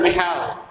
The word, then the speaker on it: Mikhail: Mikhail Gorbachev? Actually, Michael, but they pronounce as Mikhail. See, they make it silent.